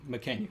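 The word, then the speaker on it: Mackenyu: I don't know how to pronounce his name. McKenyu, yeah.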